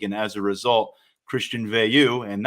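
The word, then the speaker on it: Veilleux: as a result christian veyu and that's the pronunciation i'm officially going with from here on forward got that word from greg kinkade the sid at penn state so we're going vayu we've heard it both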